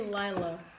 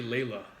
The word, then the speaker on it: Layla: always say Lila. I'm sorry. No, you say Layla. She corrected it the last time.